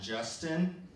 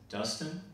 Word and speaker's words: Dustin: what's your name um Justin yeah Justin my name is Dustin the J is silent It's So Silent it's invisible I actually had an